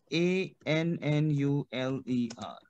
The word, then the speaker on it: annuler: ANNULER. Clear? Annuler. So we have annule. Why? Because ear sound is A. So annule.